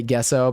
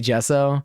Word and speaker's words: gesso: put in my backpack some people say uh say gesso but I hate those people I say gesso that's why I was like maybe it's a soft G but yeah I got